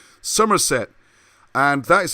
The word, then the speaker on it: Somerset: quissy you've got a county called summerset and i say it like that because where the solder apples grow somerset and that is said